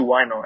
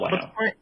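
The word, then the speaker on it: huayno: But for some reason, a lot of Japanese, even in Japan, they listen to Waino and they enjoy it.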